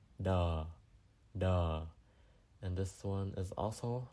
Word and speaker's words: đ: of a word, and it's pronounced similarly like the 2 T's in the word bottom, and then you drop the B-O, dum, and then you drop the O, da.